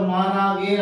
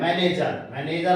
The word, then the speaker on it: manager: तो वैसे हमने उच्चारण देखा तो माना गेर आ रहा था, किससे? हमने खरे के माध्यम से देखी। मगर वास्तव में असली उच्चारण क्या निकल के आता है? मैनेजर अर्थात आपका प्रबंधकर्ता।